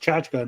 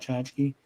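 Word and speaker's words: tchotchke: chki chachka yes apparently I heard it's it's pronounced chachka not chki I've always heard of as Chi but whatever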